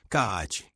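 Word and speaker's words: 空手: sob o termo karatê originalmente grafado, pronúncia japonesa, kaate, que no original significaria a mão de Tang, regionalismo para a mão da China.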